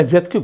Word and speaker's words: adjective: जो स्पेलिंग है ना ए डी जे ई सी टी आईवी ई लेकिन इसमें ग्रीस साइलेंट होता है तो इसका जो प्रंस करते हैं हम लोग इसका जो उच्चारण है वोह एडजेक्टिव करते हैं ठीक है आप एडजेक्टिव